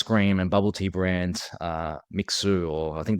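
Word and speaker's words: Mixue: Like, we've invested, we're franchisee owners of the ice cream and bubble tea brand Mixu, or I think the Chinese pronunciation is like Mishwei.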